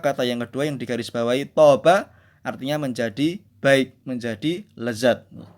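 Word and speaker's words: طاب: Kalimat kedua, kata yang kedua yang digarisbawahi toba artinya menjadi baik, menjadi lezat. Jadi beda. Hampir mirip kosakatanya tapi hurufnya beda, maknanya pun beda, tetapi pengucapannya, vokalisasinya atau bunyinya hampir sama.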